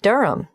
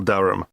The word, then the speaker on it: Durham: how do you spell Durham DUI H a.m. of course I should know that but it's just one of those names that sounds quite different from the way you spell it it is confusing I've